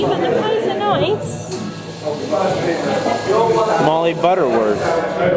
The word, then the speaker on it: Molly Butterworth: It's just Molly Butterworth. What? Molly Butterworth, it's softer.